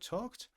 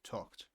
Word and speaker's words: talked: Pay attention to the pronunciation of the word um, talked. If I could So, the word talked, the ed sound, talked.